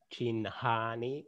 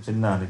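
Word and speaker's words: चिह्नानि: It can be pronounced as Chinhani or not? Yes, I said that. That's all okay. Yeah, it's allowed. Okay. Dhanyavada, Guruji. But you said Chinnani, that would be better. Yes, I know. It's more comfortable to pronounce.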